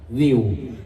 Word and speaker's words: Vi: ใหญ่ แค่ 10 บาท วิว แอป ซีรี่ ไวตี้ เกาหลี ที่ มี ภาค ไทย และ อีสาน เยอะ ที่ สุด ใน ลูก ดาวน์โหลด บน มือ ถือ ุ ่า เว็บ หน้า ทุก ที่ vi อ่าน ว่า วิว ใคร ๆ ก็ วิว